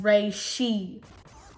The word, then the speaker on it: reishi: Dad, the mushroom of immortality is pronounced reishi.